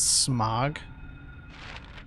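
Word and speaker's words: Smaug: gray the fog is this isn't fog it's smog the desolation of smog I know it's pronounced Smo but then like the like the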